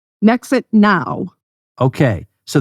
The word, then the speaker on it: NHExit: you have is called nexit now okay so the H is silent I guess just because I want it to sound like exit like it's going to